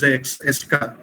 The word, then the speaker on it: ESCA: But nowadays, this ES electron spectroscopy for chemical analysis, ESCA, normally it is pronounced as ESCA.